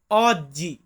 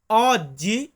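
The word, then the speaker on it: oggi: ইংরেজিতে যেটাকে বলি টুডে এটাকে আমরা ইতালিতে বলবো অজ্জি অজ্জি মানে হচ্ছে আজকে বলুন তো কি মানে আজকে অজ্জি মানে আজকে আবার ধরুন আমি বলতেছি এখন এখন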